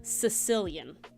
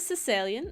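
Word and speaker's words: caecilian: more of like a Sicilian all right it's more of like a Sicilian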